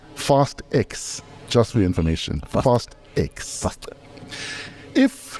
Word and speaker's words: Fast X: torsa shuchonga and other koisan viewers it is pronounced fast X just reinformation fast eggs if you live your